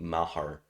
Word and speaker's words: Maher: picked up brett maher i would have pronounced it mayer but i heard i think joe buck or someone call it mahar and dropped the bears